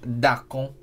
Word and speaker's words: Darkon: It's pronounced in my language Darkon.